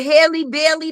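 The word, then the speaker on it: Halle Bailey: Just like the factors of the the Haley Bailey, that's how you say her name, the Disney girl.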